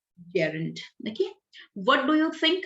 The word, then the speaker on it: gerund: gerund means ing and you can pronounce it jiren it's not jiren gerund okay what do you